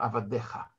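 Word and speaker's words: עֲבָדֶיךָ: Но единственная разница — вот эта вот буква юд, которая по правилам даже и не читается. Аваде и ха, но мы читаем авадеха.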